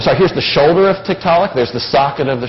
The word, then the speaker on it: Tiktaalik: I said, a tiktaalik? What's that? He says, a large freshwater fish. And I went. That's in Netflix. So that name stuck. It's actually Tiktaalik, but the Tiktaalik pronunciation stuck.